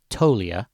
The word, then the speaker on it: Toglia: guy named Michael toia he spells it toglia but he pronounces it toia and apparently he's like